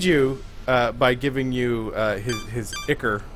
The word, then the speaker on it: ichor: Okay, now he can aid you by giving you his ichor, which they tell you to pronounce ichor.